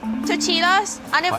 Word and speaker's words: tortillas: I bet it's the same like you make tortillas. Tortillas. Did she say tortillas? Tortillas? We're gonna have a talk here. Let me get my bearings. Tortillas. It's tortillas! Yeah, that's not how you say it.